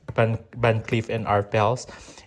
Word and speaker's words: Van Cleef & Arpels: Yeah, Van Cleef and Arpels.